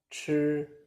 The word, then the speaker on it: chi: Chi is the aspirated version of zhi. Same tone position as zhi, but with a strong burst of air. More air. Chi, chi, chi.